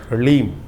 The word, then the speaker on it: ह्लीम: बीज मंत्र है, ओम ह्लीम। ह के पैर में र है, फिर उसमें साथ ही में ल लगा हुआ है, और ऊपर से बड़ी की मात्रा बिंदी, ओम ह्लीम।